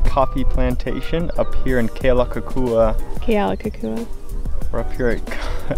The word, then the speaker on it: Kealakekua: All right, we're up at Kona Joe's coffee plantation up here in Kealakekua.